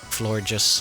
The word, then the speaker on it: Florges: Florges, like gorgeous, flower, gorgeous, Florges.